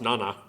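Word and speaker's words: 七: means seven is Kani it's pronounced Nana or Shi depending on the context just seven alone as a digit is pronounced Nana this is the school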